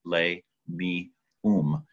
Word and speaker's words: Lamium: Rule number 4 in Spalding Phonics says, a vowel says its own name at the end of a syllable, and that comes from Latin. So it is L-A-M-I-U-M, Lay-Me-Um. And the way to remember that is potato, po-te-to. It makes sense. So Lamium and not Lamium.